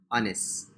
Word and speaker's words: honest: Honest. Honest. Alright, remember you can drop the H sound.